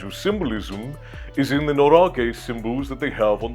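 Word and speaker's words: 노리개: Did I say norage or noriga? Norige is, I believe, how it's said.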